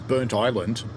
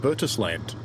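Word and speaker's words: Burntisland: And the only question I have is why is burnt island pronounced Bertus land.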